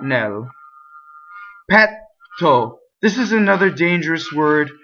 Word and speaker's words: petto: This is another dangerous word because this word petto means breast or chest, but with a single T it means fart. So petto is fart, right? So you want to double the T in this word.